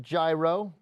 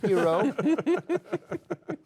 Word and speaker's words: Hero: Saul episode 4 hero some people pronounce it gyro but it's hero Alonzo deri Brett Erick